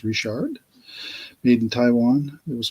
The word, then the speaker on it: Richard: I'm gonna say Richard because Andre is French, sounds like a French name, and in French they pronounce Richard as Richard.